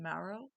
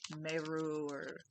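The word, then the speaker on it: Mareux: The Perfect Girl by, how do you say it, Maro? But it's spelled M-A-R-E-U-X, like the French way. I couldn't tell if it was Maro or Meru, but I took it as Maro. Like the spine of your back, marrow.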